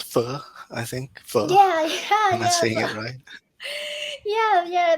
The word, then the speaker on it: pho: Pho, I think.